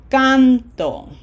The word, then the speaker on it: canto: So, this is canto. Can is emphasized. As opposed to the other way would be cantó.